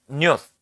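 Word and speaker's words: Nut: Ang sabi po diyan, si not yan or pino-pronounce itong newth is the goddess of the sky and heavens.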